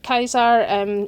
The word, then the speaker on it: Caesar: knowledge of the Romans, claimed the title Caesar or Kaiser. Caesar's the kind of more anglicised pronunciation of it, and he set out to prove that he could do it better.